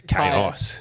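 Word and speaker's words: Kaius: it the cows? Yeah. Is that how you say it? It's chaos. Chaos.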